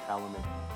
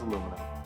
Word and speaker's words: aluminum: of the road, and adding too many syllables in words like aluminium. I mean seriously, the word is aluminum. Where did you guys find those extra syllables from?